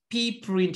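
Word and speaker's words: pprint: why we call it PR print is pretty print yes I just pronounce it like pretty yes it is pretty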